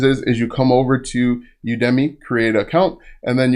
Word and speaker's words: Udemy: And some guy told me that I actually pronounced Udemy wrong. It's pronounced Udemy.